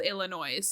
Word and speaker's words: Illinois: No, it's called Illinois. Oh, like okay. it ends in I noise.